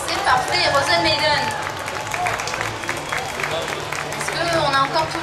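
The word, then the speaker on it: Rozen Maiden: C'est comme ça qu'on prononce? C'est parfait, Rosen Maiden.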